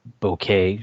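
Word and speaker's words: bokeh: were created by a visual effect um it's pronounced bouquet so it's um just just the way the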